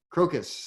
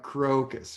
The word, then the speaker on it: crocus: sorry Kevin I wasn't how do you spell it a raucous cloth crocus CRO see us thank you I thought you said he broke it sounds like what now crocus crocus see our o CU s crocus or i guess i